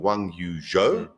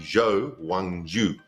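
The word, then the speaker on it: Zhou Guanyu: him in fb2 and they call him wang yu-jo but apparently his name is actually jo wang ju okay i'm gonna go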